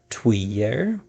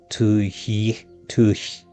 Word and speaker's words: tuyere: So apparently the English pronunciation of this is tuyere, but it's a French word, and I'm probably going to just butcher this, but it's like tuyere.